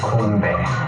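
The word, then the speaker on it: 건배: Konbae.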